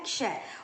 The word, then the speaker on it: क्ष: क और ये षट्कोण वाले श से बने क्ष और इसका उच्चारण कस क्ष बोल के देखेंगे तो अपने को पता चलेगा क्ष। क श की ध्वनि आती है।